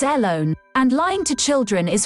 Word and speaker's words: Ellone: her full name alone is that how we're saying that e-l-l-o-n-e alone hello fake net how do you say alone initializing fake net ellone it's airlone and lying to children